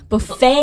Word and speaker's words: buffet: 嗯，还有我们最喜欢的自助餐嘛 buffet, buffet 对 buffet T 也不发音、 yeah.